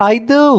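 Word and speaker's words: either: आइदर वन is fine. हम कभी-कभी तो यही प्रॉब्लम हो जाता है कि इसको आइदर बोलूं यानी आई के साथ साउंड लूं या इ के साथ।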